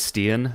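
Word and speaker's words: Stian: Um, Styen Soulberg or Steen, I'm not too sure how to pronounce the first name, but Norwegian defenseman. I'm a big fan of him. You'd think I knew would know how to pronounce his name properly, but what do you make of him? Yeah. So, just for your own future reference, uh, I I believe it is Steen.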